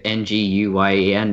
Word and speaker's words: Nguyen: The other one that people get wrong is Nguyen. That one drives me, because I grew up with a lot of Vietnamese kids in my class. So N-G-U-Y-E-N, yeah, clearly it's Nguyen. And people are like, Nguyen? Good try.